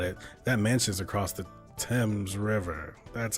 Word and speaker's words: Thames: That mansion's across the Thames River. That's how you pronounce that.